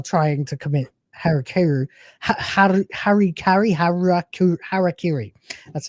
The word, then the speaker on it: harakiri: I don't know what's going on but all my browsers are trying to commit heruh harry harakiri that's how you pronounce it at the same time.